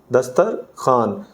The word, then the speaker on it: دسترخوان: کہتے ہیں درخواست لکھیں۔ دسترخوان نہیں ہوتا، یہ ہوتا ہے دسترخوان، دسترخوان، خوان میں واو لکھی جائے گی لیکن یہ ہمارے پٹھان بھائیوں والا خوان جو ہے وہ نہیں ہوگا، یہ ویسے تلفظ کے لحاظ سے خوان بولا جائے گا۔ تو ہم نے